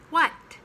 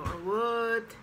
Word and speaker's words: what: relax the you next what it's really a what it's not what or what it's what then young it